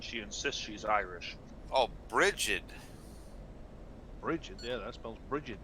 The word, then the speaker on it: Bridget: You said break it, and I was like break it. Well, that's how it phonetically is spelled. right. No, it's G as in J, like a J sound.